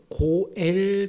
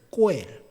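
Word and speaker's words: גואל: 이스라엘 제도에 고엘 제도라는 게 있습니다. 고엘, 히브리어로는 꼬엘이라고 합니다. 꼬엘. 근데 그냥 고엘로 발음해도 돼요.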